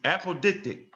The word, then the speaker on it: apodictic: Am I pronouncing right? Let's see. Apodictic.